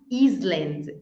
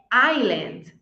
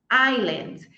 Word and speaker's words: island: Clothes Close essa aqui o s ele é mudo nós não falamos Island é Island Island eu até Acabei de